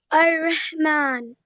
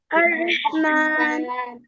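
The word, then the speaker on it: الرحيم: Meme को लंबा करो अर रहमान और हा को प्रोनाउंस करो। अर रहमान मीन्स द मोस्ट मोस्टफुल ये पढ़ो अर रहीम अर रहीम या को लंबा करो या को या मद्दा है ना ये इज इट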